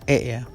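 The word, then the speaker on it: へ: Oh ya Hampir lupa jadi disitu tulisannya Hei cuma dibacanya ea kembali ke rumus jadi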